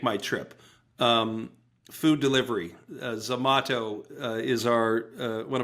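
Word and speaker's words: Zomato: So, so Zamato, which is spelled like tomat to tomato with a Z at the beginning. Zamato, Zamato is the Door Dash of India.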